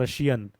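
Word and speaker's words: Prussian: अगला पॉइंट होता है रशियन। पी ध्यान देना पी साइलेंट है यहां पर रशियन।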